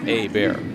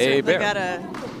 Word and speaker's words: Hebert: It's a bear. We'll figure it out eventually. No, I got the mom right here telling me how to pronounce it. It's fantastic. Well, yeah, a bear. A bear.